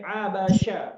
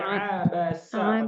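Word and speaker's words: عبس: Tidak boleh pakai abasya, tapi abasa.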